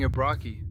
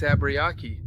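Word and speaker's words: Abriaquí: I was saying Abrai, but no, it's Abbyaki with an I.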